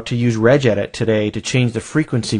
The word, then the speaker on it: regedit: launch a program called regedit it's spelled reeg edit type that in this